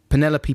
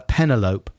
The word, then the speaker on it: Penelope: for 14 years two penelope pussycat from looney tunes always pronounced as uh pentelope that's good yeah this is hard to spell phonetically so you just pronounce it the same as envelope do you think i